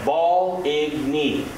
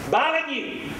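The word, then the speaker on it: Baligny: Told the man I wanted off at Val-Igny. He turned red and screamed, "Balagny! Balagny! Balagny!" Still remember how to pronounce it if I ever get back.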